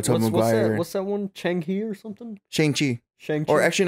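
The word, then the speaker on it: Shang-Chi: mcguire what's that one changi or something or actually you know it's pronounced shangchi i believe that's been getting a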